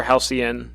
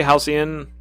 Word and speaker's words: halcyon: pronounce halcyon halcyon or halcyon you can say halcyon or halcyon either one you just did your first